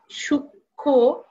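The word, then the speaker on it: সূক্ষ্ম: হচ্ছে যুতুক্ষ হয় এইজন্য সূক্ষ এখানে ম এর উচ্চারণ হচ্ছে না লক্ষণ এখানে ম এর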